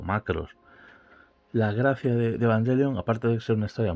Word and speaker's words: Evangelion: que quien lo popularizó pudo ser Evangelion, o Evangelion, según la pronunciación japonesa de la palabra.